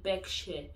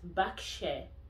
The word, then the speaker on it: Berkshire: a lot of new students international students say berkshire it's not backshare the er is pronounced instead of air it's pronounced as ah so it's backshare for um for atford a lot of international